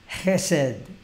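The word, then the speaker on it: jésed: que están tomando nota s ch s no se pronunciase set porque esa combinación de letras la ce y la h esa combinación de consonantes en el hebreo se pronuncia aquí culturalmente como si fuera el alemán de hesse reset esa palabra set una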